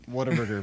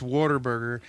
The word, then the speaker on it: Whataburger: double um so if y'all don't know what whataburger is it's actually pronounced what a burger yes but it's hard to say that it's water burger and for the longest time it i always